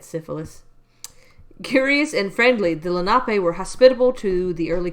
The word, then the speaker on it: Lenape: of moonlake were members of the pronounced Lenape yeah Lenape tribe uh one of the